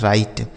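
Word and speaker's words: right: अगला शब्द है आर आई जी एस टी इसे पढ़ा जाता है राइट।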